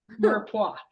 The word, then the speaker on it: mirepoix: Mirepoix. So we have to say it like the French, mirepoix. It's like M-U-R phonetically, mirepoix.